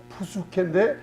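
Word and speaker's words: ψυχή: 사이콜로지 할 때 PSY인데 P자는 발음이 안 나요. 그래서 혼을 푸수케인데 수케라고 이렇게 발음을 합니다.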